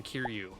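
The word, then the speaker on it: Kiryu: All legit Toho monsters with the Xbox game also including Kiru or Mecha Godzilla 3.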